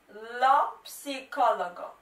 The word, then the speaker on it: psicologo: and that is lopsicolagon lopsicologo now guys to pronounce this noun properly remember to pronounce the p because there is a little bit of p it's you know it's